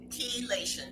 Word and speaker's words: chelation: the same as chelation is that how you pronounce it kation yes it is used for a process